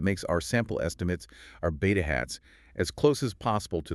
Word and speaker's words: beta hat: It's pronounced beta hat.